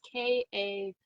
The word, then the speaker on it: Kali: It's Kali. Ostris, which is again probably pronounced wrong, but that's how I say that one.